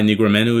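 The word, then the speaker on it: Negumereanu: use MMA math but I believe it's Nikolai nigramenu is how you pronounce it Carlos knocked him out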